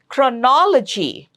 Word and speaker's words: chronology: Chronology. Third syllable from the right, chronology.